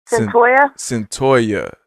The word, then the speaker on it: Cyntoia: Cyntoia.